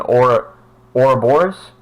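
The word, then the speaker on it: Ouroboros: serpent which is a snit which is an aura or Bors that's how it's pronounced which is a snake biting its own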